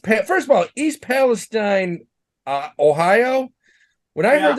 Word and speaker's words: Palestine: ah can you imagine there's a place in Ohio called East Palestine they say they pronounce it Palestine apparently foreign that's what we